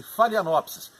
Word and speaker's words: Phalaenopsis: mundo inteiro não desconfio é uma orquídea chama-se falha lops e é sobre ela que nós vamos falar